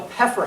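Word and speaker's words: Pfeffer: a house called the Peffer House, which is somehow P-F-E-F-F-E-R. Those of you from this area, that's not surprising at all. I don't know why you don't pronounce that it's the Peffer House.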